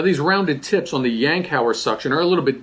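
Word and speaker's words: Yankauer: are the yankow suction yanow is how you pronounce this we have the plastic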